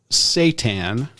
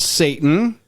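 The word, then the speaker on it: seitan: a good internet citizen it's called s-e-i-t-a-n that is the actual word for the type of protein pronounced satan not satan it's not the prince of darkness it is sweet gluten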